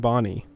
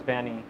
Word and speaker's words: Banny: I've heard it pronounced both Banny and Bonnie. I pronounce it to myself as Banny, but I don't care either way.